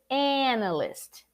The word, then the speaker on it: analyst: on the list but you're supposed to say analyst analyst analyst analyst not that hard but why